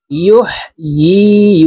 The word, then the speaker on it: يحيي: আমরা অনেকে ইউহয়ি বলে থাকি, ইয়ার উচ্চারণ সঠিকভাবে পড়তে পারি না, ইয়ার উচ্চারণ হামজার উচ্চারণ করে থাকি। ইয়ার উচ্চারণ জিহ্বার মধ্যখান থেকে করতে হবে। ইয়া ইয়া জেরে ই, ইউহয়ি ওয়া ইউমীতু ওয়া হুয়া